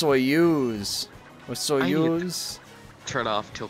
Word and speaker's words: Soyuz: either it's not soyuz it's soyuz dude they sound the same to me bud i